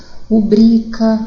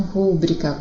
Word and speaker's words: rubrica: Rubrica e não rúbrica, porque não tem acento. É paroxítona, não é proparoxítona.